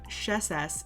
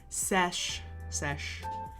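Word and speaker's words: sš: So the word for scribe is, I said it wrong before, it's not sheses, it's sesh.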